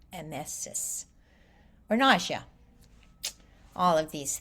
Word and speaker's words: emesis: And of course, your medical term, emesis, is pronounced, I think the E sound is really the the soft or short vowel, emesis, or nausea.